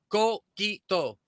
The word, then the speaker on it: Coquito: Coquito, pronounced Coquito, is Puerto Rican coconut flavored eggnog.